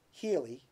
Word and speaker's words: Healey: goes like this when judge Healey judge feely rhymes with Healy when he let that